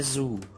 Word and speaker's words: Soult: Und der Gaiman hat Marechal Soult, wie auch immer der ausgesprochen wird. Maréchal Soult.